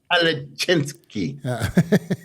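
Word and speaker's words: Kalecinski: Kalachinsky. Huh? Say that again? Urs Kalachinsky. No. Say Kalichinsky. Kalachinsky.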